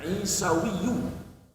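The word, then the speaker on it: عيسوي: Kalau pengikut Nabi Isa bahasa Arabnya Isawiyu. Jadi bacanya yang lebih tepat isawiyu.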